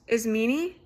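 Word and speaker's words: Ismene: Um she's very her I believe her name is pronounced is meanie is the sister's name.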